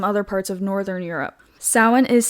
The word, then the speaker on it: Samhain: Now I'm saying sin. It is spelled Sam Hayne, but it's a a a Celtic word. So I I'm pretty sure it's like the Irish alphabet. Yes. So it it it's not it's not the same way that it's spelled the way that it's said.